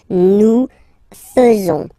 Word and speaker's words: faisons: So like here, this AE is not pronounced like normally we should pronounce it like E, but then like okay? Nous faisons.